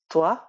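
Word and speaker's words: trois: একইভাবে 3 এটার প্রোনাউন্সিয়েশন হলো তোয়া।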